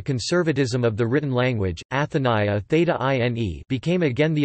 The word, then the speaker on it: Ἀθηνᾶ: In antiquity, it was debated whether Athens took its name from its patron goddess Athena, Attic Athena, Athena, Ionic Athene, Athene, and Doric Athana, Athana, or Athena took her name from the city.